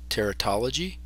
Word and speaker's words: teratology: This is called tear. Like doll, tal, teratol, G, teratology. So that is a subspecialty of embryology and pathology.